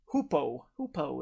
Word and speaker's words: Hoopoe: The River Hoopoe is how you pronounce it.